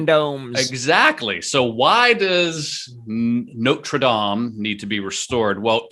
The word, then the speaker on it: Notre Dame: think the restoration of notre dame do you say notre dame or notre dame well if i'm trying to sound fancy i say notre dame that's like the correct